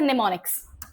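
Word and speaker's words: mnemonics: एक चौथी चीज होती है निमोनिक्स। एम साइलेंट होता है इसका, एम साइलेंट है, इसको कहते हैं निमोनिक्स, ठीक है ना।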